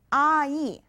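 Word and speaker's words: 아이: Now our first word is made up of the vowel a plus the vowel e. Together, it's ai.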